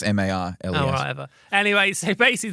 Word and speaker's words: Marles: I say Miles. Yeah, but it's not. It's MARLES.